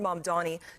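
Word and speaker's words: Mamdani: The name is Manni. M A M D A N I. You should learn how to say it.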